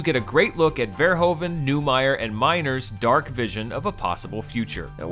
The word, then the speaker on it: Verhoeven: One of them is the name Verhoeven, which the internet has told me repeatedly is pronounced Verhoeven, but isn't.